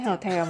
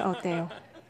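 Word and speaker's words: hôtel: Chẳng hạn như trong tiếng Pháp, chúng ta không nói hotel mà nói hotel.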